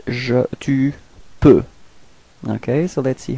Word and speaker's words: peux: So for the first person, je, it's je peux. Repeat. Je peux. So actually you don't pronounce the final X.